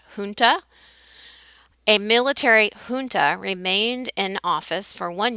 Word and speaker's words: junta: know it looks like Genta but it's a Spanish word and so that J is pronounced like an H Punta a military junta remained in office for